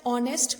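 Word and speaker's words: honest: article काम में लिया है इसी प्रकार नेक्स्ट9 ऑनेस्ट मैन यह भी पहली वाली स्प्रिंग की तरह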